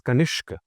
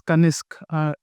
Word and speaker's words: Kanishak: You pronounce it as Kanishk. Right, so I pronounce it as Kanishk, but technically it is Kanisk in a way.